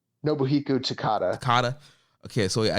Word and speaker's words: Takada: going for the IWGP title against was this Takeda is that how you say his name nobuhiko Takada kata okay so yeah I did watch that